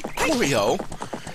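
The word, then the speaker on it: Kokiri: and since we have Cory corio as I know how it's pronounced in Japan um we will go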